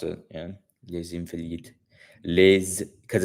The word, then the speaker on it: Les Invalides: Yeah, les Invalides, because it's an Elysian. So Elysian, les Invalides, I believe. Je pense que le prononcer les Invalides, les Invalides. C'est prononcé. Yeah, c'est prononcé.